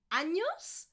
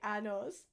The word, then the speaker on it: años: Did you say años or did you say anos? Okay. Años, years. Anos, very, very different, guys.